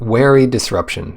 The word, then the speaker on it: Jwari Disruption: Jwari Disruption. The J is silent. Wary Disruption.